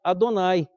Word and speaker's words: Adonai: velho testamento de Deus deveria pronunciar adonay Como já vinha sendo pronunciado pelos judeus antes mesmo de Cristo deixa eu passar mais